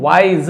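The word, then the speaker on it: wise: अ vice गुरु वाइज ज बोलेंगे ना नुक्ता वाला ज वाइस गुरु एक ज्ञानी गुरु बुद्धिमान गुरु लिव्ड रहते थे विथ हि डिसाइपल्स।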